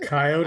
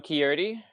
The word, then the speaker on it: Quixote: Coyote? I don't know. Coyote? We have those like here. Don Quixote. It's spelt at the end. Oh, like Don Quixote? Yeah, so it's Cosmic Quixote.